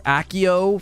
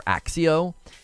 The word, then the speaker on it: Accio: want him to do I believe it might be pronounced Akio or or axio and so this one